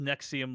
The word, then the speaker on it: NXIVM: it's called like the nexium story or a nexium story and it's about this thing called nexium which is spelled nxivm but it's pronounced nexium like the antacid drug uh and it's basically